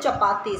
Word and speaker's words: चपाती: उसके बाद हमें एनर्जी मिलती है चपाती से. तो first we learn the spelling of चपाती. CH sound word, yesterday we have learn CH sound word. हमने सीखे थे ना CH को हम च बोलेंगे, तो च CH, च